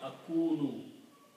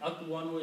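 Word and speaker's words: أكون: So it will become akunu. Okay. This is the pronunciation. Akwanu is not easy to pronounce. So it will be pronounced akunu.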